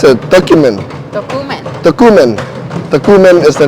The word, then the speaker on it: Tocumen: Okay, we learned how do you pronounce it? Tocumen.